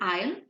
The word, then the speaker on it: isle: So Jane started living on an dash, on an isle, on an isle, and on an isle. So first isle, I-S-L-E, where an S is silent, is a small island.